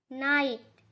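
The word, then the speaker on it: night: तो GH लिखा तो जाता है लेकिन बोलने में वो साइलेंट हो जाता है।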